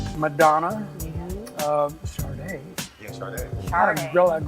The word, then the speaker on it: Sade: Sadie. You say that one more time. I wasn't in Fresno when she came out. I was what was I? Never mind. Sade, how do you say it? Sade.